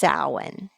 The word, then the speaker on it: Samhain: Celtic Festival of sowin you'll see it spelled s-a-m-h-a-i-n but it's pronounced sowin and it's from the